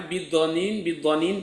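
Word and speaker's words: بضنين: Nah, ada yang membacanya bidhanin pakai dod, ada yang membacanya bidhanin pakai zo ya.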